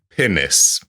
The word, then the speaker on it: pinnace: Ah, I'm going to just double check that it is pronounced like a posh posh person talking about something.